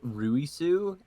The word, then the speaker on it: Louis: and it's redko sheet it's pronounced ruisu and bragoshi yeah it's reggo but i do think